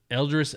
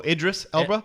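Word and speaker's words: Idris Elba: uh Elders how do you say it Elder eldris Ela oh Idris Ela Idis too old he's too old he would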